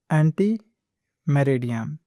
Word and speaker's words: Ante Meridiem: The proper way to pronounce it is Ante Meridiem. Ante Meridiem. Do not say it as Ante Meridiem, rather say it as Ante Meridiem.